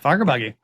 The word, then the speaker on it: Fagerbakke: What was it like working with Bill Fagerbakke? Did I pronounce that correctly? Yeah, Fagerbakke.